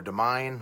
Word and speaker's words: Domine: had done a cover of astronomy domine or de mine how we pronounce it and I thought that